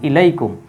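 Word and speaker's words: إليكم: যাবে উচ্চারিত হবে ইলাইম এটা হয়ে যাবে তখন ইলাইকুম ইলাইকুম মানে তোমাদের প্রতি তোমাদের দিকে এটা আমরা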